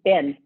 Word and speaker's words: Bin: nickname for me and bin which is b-i-n because it rhymes with lynn that's all but i